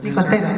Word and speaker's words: Nicotero: Nicotero. Did I pronounce it properly? Nicotero.